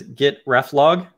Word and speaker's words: reflog: The funny thing about this, the command is git ref log, but I've also heard it pronounced git reflog.